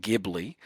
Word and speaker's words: Ghibli: There's a thing called Ghibli, which I'm told is pronounced Ghibli.